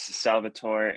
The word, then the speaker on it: Salvatore: Uh my name is Salvatore and I work on community engagement. I'm sorry for saying your name incorrectly. Okay. No, that's, no, that is, that is actually how it's pronounced.